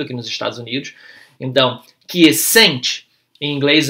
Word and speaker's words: quiescent: Quiescent, a gente fala quiescent, né? Então a sílaba que é estressada no inglês e no